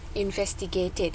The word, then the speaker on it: investigated: ID gitu Apa bedanya investigated Iya benar investigated kita bacanya kan investigated kan artinya dibaca ID Alasannya kenapa ya jadi